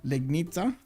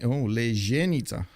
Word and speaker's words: Legnica: Legnica. You call it actually Legnica. Oh, because that C, it's actually pronounced Ca. Oh, it's okay. Interesting. Lejenica. Lejenica. That definitely doesn't sound like it looks.